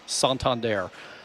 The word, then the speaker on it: Santander: Before Anthony Santander last night, and it is pronounced Santander, his 3-run triple.